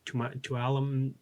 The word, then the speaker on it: Tuolumne: You might not pronounce the N. Tuolumne.